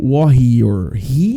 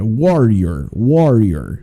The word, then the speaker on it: warrior: Vão sempre pronunciando junto comigo e aprendam a falar esse R do inglês, né? Esse r, ó, true warrior. Então, às vezes, alguns alunos acabam falando comigo warrior. Não, é warrior.